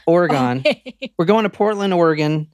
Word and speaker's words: Oregon: weird okay go ahead I said it how it's pronounced Oregon Oregon we're going to Portland